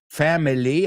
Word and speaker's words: family: Then he says family, and then he says family.